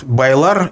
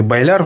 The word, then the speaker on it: Байлар: Это род Байлар или Байляр, в общем-то, по-разному произносят, который также находится на крайнем западе исторического Башкортостана.